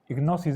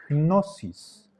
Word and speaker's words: gnosis: Recuerden la pronunciación de esta palabra, gnosis. Tenemos que pronunciar la primera consonante que es en sentido de G suave, gnosis.